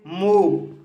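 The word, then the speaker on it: move: इसका छठा नियम है, अगर शब्द या शब्द खंड के अंत में ओ वी ई हो तब ओ का उच्चारण लॉन्ग साउंड ऊ होता है। जैसे मूव, मूव शब्द के अंत में ओ वी ई आया है, इसलिए ओ का उच्चारण लॉन्ग साउंड ऊ हुआ है, इसलिए इसे मूव पढ़ा जाता है।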